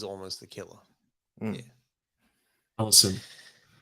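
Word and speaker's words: Allyson: Allison. Allison.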